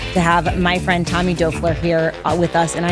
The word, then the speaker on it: Doerfler: have my friend Tommy Doerfler here with us, and I am so proud of myself because I said his last name right. It is not pronounced the same way it looks, but Tommy owns Lighthouse